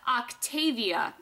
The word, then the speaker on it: Octavia: This is Octavia is how you pronounce this one.